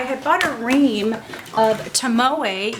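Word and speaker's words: Tomoe: bought a ring of tamoo yes that is the right way to say it I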